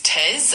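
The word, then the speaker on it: treize: Number 13 in French is TZ and it's spelled T R E I Z E.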